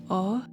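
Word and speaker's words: 王: By the way, Kenny's last name is pronounced O in Japanese, which is king.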